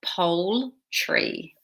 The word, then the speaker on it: poultry: the pronunciation is a little strange. So it sounds like pole tree.